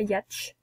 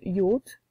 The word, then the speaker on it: yacht: cantons ici c'est un yacht alors ça se prononce pas yatch ou y acheter ça se prononce yacht d'accord et si c'était la mer bien entendu